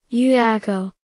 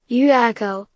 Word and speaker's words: Llullaillaco: yuyako yuako spanish pronunciation is a dormant strata volcano at the